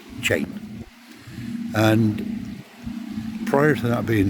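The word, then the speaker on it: Cheyne: on Chain Beach, um, Chain is actually spelled C H E Y E N, sorry, C H E Y N E, uh, but pronounced Chain.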